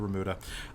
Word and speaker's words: remuda: in charge of the remuda. I'm assuming that's how you pronounce it. Yeah, it's Spanish, so it's the remuda, which is all of